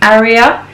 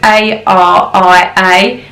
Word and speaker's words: Aria: But I think how you pronounce it is Aria. So it's A-R-I-A.